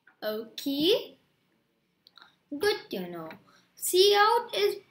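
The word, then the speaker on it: cout: operator so it's saying c out is it said like say c and then out so see how it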